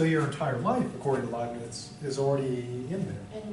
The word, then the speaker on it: Leibniz: So Leibniz, how do you pronounce this? Oh, Leibniz.